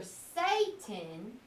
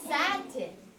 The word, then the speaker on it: satin: So the word is either Satan or Satan? Satan. Well, Satan, the words, the name Satan is spelled like this. So it's not that. So what might it be? Satin.